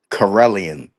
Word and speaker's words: Karelian: Pronounce the name. Ready of the dog. Carellian.